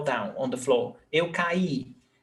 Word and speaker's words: caí: Caí, eu caí. I fell down. I fell down on the floor. Eu caí. A, I. It's not, there is the accent because it's stressed.